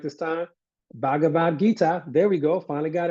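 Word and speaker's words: Bhagavad Gita: just and again uh here we go always butcher the terminology I hope I finally got it right this time bhavat Gita there we go finally got it right one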